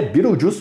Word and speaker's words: Beetlejuice: e é interessante que a pronúncia do nome dele está escrita certa no título do filme porém o nome a grafia está escrita diferente no filme você pode ver que tá escrito desse jeito aí que tá aparecendo na tela mas o nome do filme é como se pronuncia então o nome é Biro juus mesmo e uma das coisas